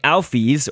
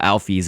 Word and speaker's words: Alphys: of people's interpretation, although Toby, the creator, has put out a pronunciation guide for a lot of these, and so Alphys is the way that I guess this is pronounced, according to Toby.